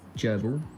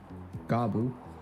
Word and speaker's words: Grbl: Geral to our uino Geral which can be pronounced as Geral Geral garble or even grbl is some free open-